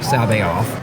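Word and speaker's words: C'baoth: I've always said something like Jorus Sabaoth, but it's been going around that Timothy Zahn actually pronounces it Jorus Sabaoth.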